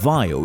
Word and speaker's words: Vaio: interpretations for the logo the pronunciation of Vaio is similar to that of Bio which stands as a